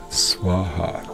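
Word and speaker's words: svāhā: Now, when this love goes back to source from your side, think Swaha. like swan and ha ha, swan and ha ha, like swaha, swaha.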